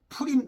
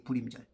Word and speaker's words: 부림: 부림절. 예. 원래는 그 발음이 풀림이고 예.이 이이 풀림을 우리 한국 사람들이 좀 발음하기 어려우니까 예전에 요즘은 좀 바뀌어야 되는데 역시 여전히 계속 불림자를 쓰고 있어.